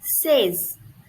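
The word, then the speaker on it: seize: is 16 16 it would be in french says says says says okay please focus on the pronunciation 16 says okay then our next word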